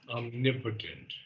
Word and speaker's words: omnipotent: No, omnipotent. Omnipotent. Okay. Omnipotent. It's on the second syllable. Omnipotent. Omnipotent. Okay. Emphasis on N there.